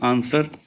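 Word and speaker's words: answer: आंसर पर डब्ल्यू की नहीं आ रही। डब्ल्यू साइलेंट अल्फाबेट है आंसर वर्ड में।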